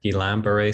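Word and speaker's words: Guillain-Barré: that would be called Guillain-Barre syndrome or gilamber syndrome is one of our French speaking clinical problem solvers Morning Report colleagues told us um a while ago that that's the correct pronunciation is gilam but it's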